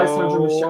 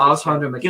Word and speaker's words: Alessandro Michele: Alessandro Michele. I always called him Alessandro Alessandro Michele.